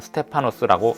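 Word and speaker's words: στέφανος: 면류관에 해당하는 헬라어는 스테파노스라고 읽습니다.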